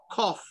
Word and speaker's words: cough: This is not cough. Huh? In India, we say cough, but that is wrong. It's cough. O-F-F, off, cough. It's pronounced like cough, right?